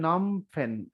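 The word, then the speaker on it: Phnom Penh: পেনের ঝামেলাটা কি তলে মাঝখানে হচ্ছে বানানটা এন ও এম নম পি এন পেন এই হল নম পেন শুরুতে একটা পি এইচ শেষে একটা অতিরিক্ত এইচ আপনি এভাবে মনে রাখবেন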